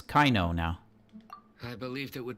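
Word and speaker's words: Kaveh: right so it doesn't really matter how you pronounce them most of the names are messed by localization team got it so it's kaino now I believed it would be wise to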